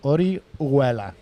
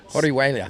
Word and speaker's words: Orihuela: No, you don't pronounce the H. Orihuela. Orihuela.